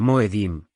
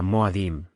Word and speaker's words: moedim: Su plural sería Moedim, también pronunciada Moadim.